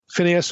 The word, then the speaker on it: Phineas: Okay, that's the way most of us would pronounce this. Phineas or Pincas in Hebrew.